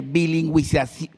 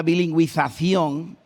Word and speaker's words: bilingüización: es dificilísimo de pronunciar como pueden ver bilingüización y con z española bilingüización aparte de que es dificilisimo